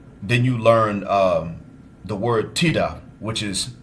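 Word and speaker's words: tidak: And then you learn the word tida, which is not. It's pronounced like that, but it's spelled with a K at the end. So tida is not or no.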